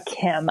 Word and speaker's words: chem: Oh, chem, CHEM.